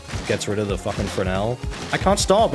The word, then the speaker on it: Fresnel: not like that glowy Fresnel he's got on him. I don't know why the S is silent in Fresnel, by the way.